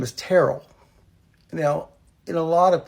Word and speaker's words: Terrell: Now before, when the HR people were looking at it, they saw Terrell, which we pronounce it Terrell.